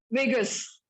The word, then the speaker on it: vagus: भी बड़ा अच्छा है, वेगस, वो लास वेगस वाला वेगस नर्व। वैसे स्पेलिंग्स अलग है, VAGUS है, वो वेगास है, ये वेगस है, समझ रहे हो ना?